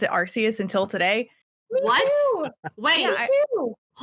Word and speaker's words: Arceus: Pokemon Legends Arceus. By the way, I've always pronounced it Arceus until today.